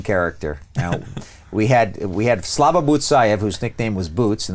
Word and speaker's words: Butsayev: It's Butsayev. Butsayev, accent on the second to last syllable.